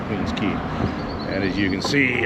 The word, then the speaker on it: Queens Quay: Queen's Key. I think it's Queen's Key. Let me see here. Yes, it is. It's It's spelled Queen's Quay, but I pretty sure it's pronounced Queen's Key.